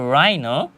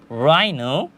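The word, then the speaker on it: rhino: তাহলে এখানে বলা হয়েছে রাইনো রাইনো যার অর্থ হচ্ছে গন্ডার এখানেও কিন্তু এই যে এইচ লেটারটা আছে এটাও আমরা উচ্চারণ করছি না তাহলে আমরা কি শিখলাম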